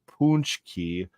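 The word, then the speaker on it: pączki: jelly filled gut bombs it's pronounced punchki punki are delici delicious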